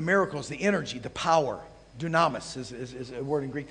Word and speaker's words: dunamis: the energy the power Dunamis is a word in Greek that means yes Dunamis yeah did I say Dunamis put the accent on the wrong syllable or me Oh anyway that's